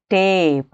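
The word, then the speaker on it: tape: ಅದೇ ಕೊನೆಯಲ್ಲಿ ಒಂದು ಇ ಸೇರಿಸಿದ್ರೆ ಏನಾಗುತ್ತೆ, ಟೇಪ್ ಅಂತಾಗುತ್ತೆ. ನೋಡಿ ಇಲ್ಲಿ ಇ ಸೈಲೆಂಟ್ ಆದರೂ ಕೂಡ ನೋಡಿ ಅದರ ಅರ್ಥ ಯಾವ ರೀತಿಯಲ್ಲಿ ಚೇಂಜ್ ಆಯಿತು, ಅದರ ಉಚ್ಚಾರ ಯಾವ ರೀತಿಯಲ್ಲಿ ಚೇಂಜ್ ಆಯಿತು ಅಂತ.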